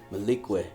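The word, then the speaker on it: Malique: A lot of people think my name is M-A-L-I-K. It's M-A-L-I-Q-U-E. Malikwe. Yeah. That's how I pronounce it.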